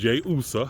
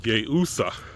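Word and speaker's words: Iusa: So the first level was Yeusa, I-U-S-A, and the I is pronounced with a Y, with the Y sound, but Yeusa.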